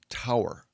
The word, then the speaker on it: Taur: And for one layer, it's spelled t aur, but it's pronounced tower.